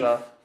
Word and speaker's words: Ralph: Ralph Fiennes, better known as Rafe Fiennes. oh, It's spelled Ralph, but apparently he pronounces it Rafe.